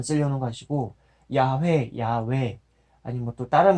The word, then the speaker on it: 야훼: 읽어야 되겠는데 예, 그래도 가장 근접한 발음이라고 추정되는 야훼 그 전통적으로 그 유대교라고 그러나요? 그쪽에서도 발음이 늘 되어 왔었던 그것을 생각하면서 그래서 야훼라고 제가 그렇게 발음을 하면서 읽고 있었던 것입니다.